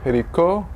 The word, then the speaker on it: Jericó: Jericó, faltó el acento, perdón. Jericó, Jerusalén, Betania y Belén. ¿Sí logran verlo? Entonces, Tiro, Capernaum, Nazaret, Jericó, con acento en la O, Jerusalén, Betania y Belén.